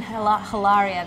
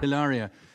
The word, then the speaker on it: Hilaria: it's not it's hilarious it's not even hilaria there is no h there's no h so pretend there's no h it's like hola